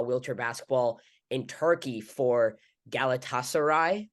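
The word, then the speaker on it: Galatasaray: basketball in Turkey for galatasarai I hope I that's right I hope I pronounce that right you did you actually nailed that oh um and you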